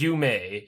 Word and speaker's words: Yume: It is Yume. Yume Nikki. That's how you pronounce it.